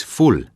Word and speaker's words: ful: The shining example of this is ful. Ful comes from the English word full, although it's pronounced more like the English word fool.